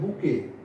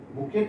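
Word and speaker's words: bouquet: है, उसको बोलते हैं बुके। बुके, इसमें देखिए ये टी वर्ड है, ये साइलेंट है, बुकेट नहीं है, ये लिखा है बुकेट लिखा है, लेकिन यहाँ पे बोला जाएगा बुके।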